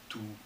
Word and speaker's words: tú: Tú. Tú. Okay, rhymes, doesn't it? You, tú.